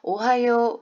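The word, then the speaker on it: おはよう: 발음 하기로 했잖아요 그저 그래서 오바 이루가 되는 것이 아니라 오하요 하고 길게 장은 발음이 되는 거에요 요가 무슨 말인지 하셨죠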